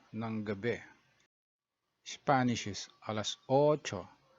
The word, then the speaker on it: ocho: Spanish is alas ocho. So you have a double O in ocho. So it's a bit longer.